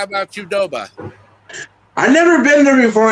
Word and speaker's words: Qdoba: Okay, Bogart, how about Qdoba?